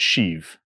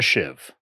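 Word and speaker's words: sheave: wheel called a shiv even though it's spelled s h e a v e some folks will pronounce it shiv rigging folks will call it a shiv this utility pulley has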